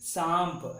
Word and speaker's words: सांप: उसके बाद जो है अगला शब्द है सा में विसर्ग मिलकर चंद्र बिंदी मिलकर सांप, सांप, सांप नहीं कहते हैं, सांप ऐसे कहते हैं।